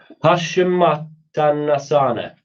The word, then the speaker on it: Paschimottanasana: Paschimottanasana.